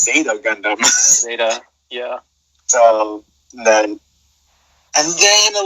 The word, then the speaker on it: Zeta Gundam: I was like, what's Zeta Gundam? And I was like, oh no, that's not how you say it. It's Zeta Gundam.